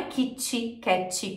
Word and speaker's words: Kit Kat: i no final né Isso é interferência do português porque na língua portuguesa a maioria das palavras termina com uma vogal não é natural para gente pronunciar palavras que terminam em consoante por isso que a gente coloca um som ali que ele nem tem né não é Kit Kat com i mas a gente fala assim e isso é